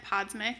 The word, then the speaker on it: Podsmic: so far um and my last name is said podsmic it took me a while to learn that myself but for the record that's how you say it um I'm super happy